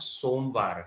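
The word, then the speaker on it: सोमवार: ¿Aaj somvar hai? Y las palabras serán el lunes somvar. Somvar es una palabra, solo para entender bien la pronunciación. Lo hemos separado, no separado, solo esta marca, ¿ok?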